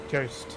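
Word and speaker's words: Joost: Cirrus NL, so from the Netherlands, says juice is pronounced with the U sound like the O in home. Home. Jost.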